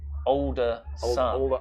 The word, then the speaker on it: Alderson: He just said, my name is not Alderson. It's pronounced Alderson. Older son.